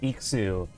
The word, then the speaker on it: IX: Okay, so IX is pronounced Ikuzu in Japanese, huh?